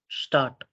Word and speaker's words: Stadt: हुआ है ना, इसको ये STADT इसको कैसे प्रोनाउंस करें? स्टार्ट स्टार्ट।